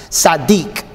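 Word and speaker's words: צדיק: means the righteous it's it's a tsad and then d-e-e-k is how you pronounce it Sadiq right and the Greek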